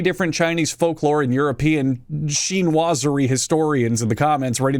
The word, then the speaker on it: chinoiserie: she knows hang on sheen wazari apparently is how that's pronounced during europe's sheen wazari